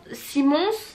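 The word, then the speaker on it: Simons: de chez simon non parce que ça se prononce ya un s à la fin donc c'est où simon simmons simmons ce t-shirt j'ai une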